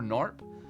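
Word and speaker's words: Gnorp: It's basically as if Gorp and I don't pronounce the G. Ganorp or Narp and Dwarfs Mountain had a little bit of a baby here.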